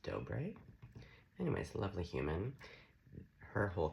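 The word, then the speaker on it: Dobre: I believe her last name's pronounced Dobé.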